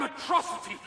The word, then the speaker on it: Metro City: This is a day you and Metrocity shall not soon forget. It's pronounced Metro City.